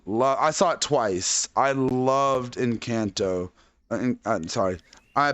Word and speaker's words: Encanto: loved loved love i thought twice i loved encanto i'm sorry i pronounce it in kanto the way it's supposed to be pronounced um